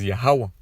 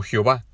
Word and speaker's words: Yahweh: Su nombre verdadero es Yahweh, no Jehová. Yahweh es como se pronuncia su nombre en el hebreo antiguo, nuestro idioma original, siendo los israelitas.